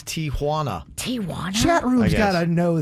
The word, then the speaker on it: Tijuana: I'm 47 years old and just realized that it's Tijuana.